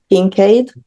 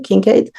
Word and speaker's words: Kinkade: And Vika is the co-founder of Kingade. Am I pronouncing that correctly? Kinkade.